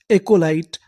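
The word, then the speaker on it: acolyte: और आखिरी में लिखा है टी ई। इसे क्या पढ़ना है? ट। क्योंकि आखिरी में लिखा है इ ई का हमें उच्चारण नहीं करना।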